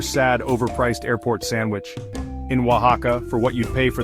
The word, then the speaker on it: Oaxaca: And for those of you wrestling with it, it's pronounced Oaxaca.